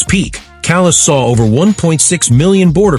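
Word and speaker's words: Calais: Callus, Maine, spelled like a French duchess, pronounced like Callus, and yeah, it kind of is.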